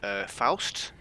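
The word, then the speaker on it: Foust: thank you to James Faust. I think that's pronounced Faust, F-O-U-S-T.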